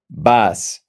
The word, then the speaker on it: vas: If you notice, we don't pronounce the V in Spanish. The V in Spanish is pronounced B. So that's why you say voy, vas, va, vamos, van.